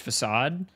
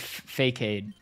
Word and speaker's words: facade: into adolescence I did not know it was pronounced facade um and I pronounced it fade for a really long time and then it